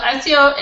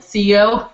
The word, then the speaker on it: SEO: and they call it CEO what they pronounce out the word but it's really an abbreviation that's why we say SEO and it stands for